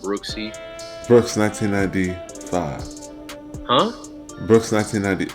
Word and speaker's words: BROOXCIV: So it's pronounced Brooksy.